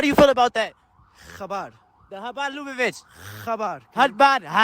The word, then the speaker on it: Chabad: Chabad.